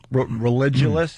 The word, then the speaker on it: Religulous: Religulous, and I'm saying it right.